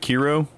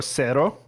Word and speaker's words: CERO: And what's the Kiro? Zero or cero. Cero. Because that's, if you say zero in Spanish, it's cero.